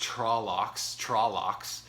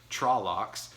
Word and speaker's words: Trolloc: quite a lot uh trollics are things in this war world not to take for granted well i mean not to not to not take seriously for example um and it's pronounced trollocks trollocks uh they're in the